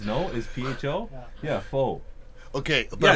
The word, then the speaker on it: pho: Is PHO?